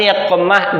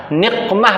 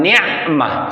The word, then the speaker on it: niqmah: Niqmah Pak bacanya. Ibu-ibu biasanya kalau di sholawatan itu bacanya Ilahi salimil ummah minal afati wan ni'mah. Salah bacanya Pak. Lahi salimil ummah minal afati wan niqmah. Qaf.